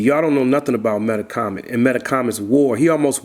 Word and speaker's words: Metacomet: You know how to pronounce that name? You know the C is a H. Yeah. The C is a H. The E is a U.